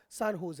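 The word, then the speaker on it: San Jose: इसके लिखने का तरीका यह है, ये है यहाँ पर सान होज, और इसको प्रोनाउंसिएशन का तरीका सान होज है।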